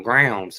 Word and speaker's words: Grounds: it right there Jason she said rhymes with crowns Crown grounds Family Farm oh grounds Family Farm